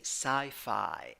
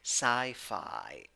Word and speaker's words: sci-fi: Number 5, or number 6, 5 letters, 4 sounds, 2 syllables. Both syllables are stressed. You have letter I wearing a hat, pronunciation I. So you're going to say sci-fi, sci-fi.